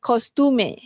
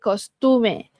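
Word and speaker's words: costume: Okey dia bukan kostum tapi yang ini dia panggil kostume. Okey kostume. So aa ejaan dia sama aje macam dalam bahasa Inggeris kostum tapi sebutan dia adalah kostum eh.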